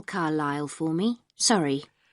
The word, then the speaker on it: Carlisle: and your address 45 Carlisle way could you spell Carlisle for me sorry it's c a r l i s l e you don't pronounce the S carlisleway and that's in